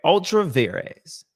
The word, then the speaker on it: ultra vires: Ultra vires. Okay. There, Mr. President. Ultra vires. All right. If you want to pronounce it correctly in the Latin vulgar.